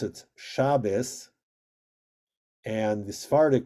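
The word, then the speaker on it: Shabbos: ashkanazi je pronounce it shabis and and the saric pronunciation is Shabbat also notice that the emphasis is in different places ashkenazic it's always on the penultimate shabus right shab shabus yeah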